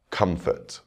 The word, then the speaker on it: comfort: take the root word comfort you can hear the stress on the first syllable Comfort now we'll add